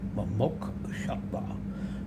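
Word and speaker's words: mumukshutva: This stage, actually, and describing it as Mo-Muk Shatva, and that's spelled M-U-K-S-H-U-T-V-A, Mo-Muk Shatva, the intense desire for liberation.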